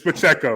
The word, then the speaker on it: Pacheco: my notes I'm like I don't trust myself Pacheco but it's Pacheco man you know so it's a cross between like a wine and a meat um but Pacheco he got to start